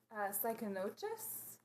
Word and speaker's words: Cycnoches: So this guy is I think it's pronounced Cycnoches. Well, you nailed it. Okay, it's Cycnoches.